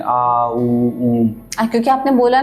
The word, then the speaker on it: ओम: ओम का जब उच्चारण करते हैं, आ ऊ ऊम, क्योंकि आपने बोला ना